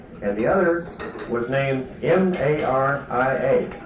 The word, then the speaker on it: Maria: One was named Anna, and the other was named M-A-R-I-A, which in the English tradition is pronounced Maria. And when I was a young fellow, everybody called it Anna Maria.